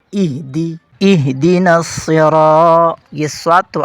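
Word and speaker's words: اهدنا: ہے اہدنا الصراط المستقیم۔ یہاں پہلا لفظ ہے اہدی، یہ اکثر اہدے ہو جاتا ہے، اہدے نہیں اہدی، اہدنا الصراط، یہ صاد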